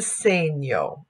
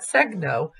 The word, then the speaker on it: segno: little s with the two dots that's the same yo so we don't pronounce that segno we pronounced that same yo so Talia same